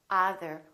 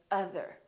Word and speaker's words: other: We don't say other, we say other.